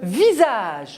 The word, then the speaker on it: visage: Alors, visage, on a le S entre deux voyelles. Il se prononce ZE, donc je mets I-A entre le S entre le I et le A se prononce ZE.